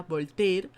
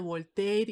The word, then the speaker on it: Voltaire: Y esto es lo que critica, por ejemplo, Voltaire, creo que así se pronuncia, Voltaire, en su Cándido.